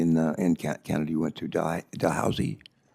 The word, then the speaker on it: Dalhousie: Ellis earned her PhD from, how do you pronounce the university in Canada you went to, Dalhousie? Dalhousie, okay, I hope I didn't butcher it too bad.